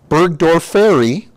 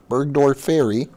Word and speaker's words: burgdorferi: e li a borr e li a Marilia burgdorferi one word burgdorferi by saying that's pretty close isn't it I've